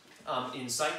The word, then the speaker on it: insight: and insight in sight the first one is usually said like this in sight with the accent on the second syllable and the other one is an insight with the accent on the first syllable so in sight means